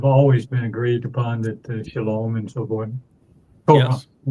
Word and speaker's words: Shalom: And the O sound in Shalom, where does that come from? It's from the Wah. O-W. The Wah. It's the Wah. Yeah, the Wah in Hebrew is pronounced either as a O or U. And the overwhelming percentage of the time, about 90% of the time, it's pronounced as O, as in Shalom.